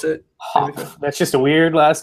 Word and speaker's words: Hopf: Hopf. That's how you pronounce it. How do you pronounce it? Hopf.